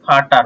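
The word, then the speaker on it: Vater: আমরা ফাও ওকে যদি আমরা এটাকে বলি তাহলে কি ফাটার মানে কি ফ এর মত উচ্চারণ হবে ওডের সাথে মিশ্রণ হলে যখন একটা ওয়ার্ড তৈরি করবে তখন ফ এর মত উচ্চারণ হবে ফাটার ফাটার মানে কি বাবা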